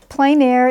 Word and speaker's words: plein air: It's a French term. They say plein air, and in the U.S. we pronounce it Pleinair.